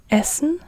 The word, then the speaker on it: Essen: a a v elepant an elephant elephant and Essen to eat just like in English it's it